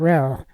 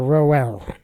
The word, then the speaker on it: Roell: The ROE in both names is pronounced the same, with the O being essentially silent. So it's Reske and Rell, not Roski or Roel.